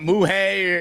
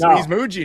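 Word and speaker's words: Mougey: He's not muay. He's Muji now. We got it right.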